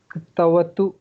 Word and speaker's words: ktavatu: Ktavatu, half ka, half ta, ktavatu, ktavatu, like that.